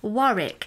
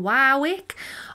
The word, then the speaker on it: Warwick: be looking at dionne warwick now some may pronounce it as dionne wowwick or warwick or warwick it's entirely up to you i think it depends on where you come from now for me this